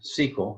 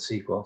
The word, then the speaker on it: SQL: we're gonna be using sequel I like to call it sequel some people say SQL they just pronounce the letters for some reason I like sequel to two syllables instead of three and this is a